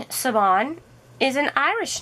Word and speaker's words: Siobhan: the store is cover minders the owner is siobhan and i've talked with her on the phone